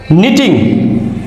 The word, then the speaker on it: knitting: নিটিং, KNITTING, নিটিং means বোনা, যেমন কাপড় বোনা।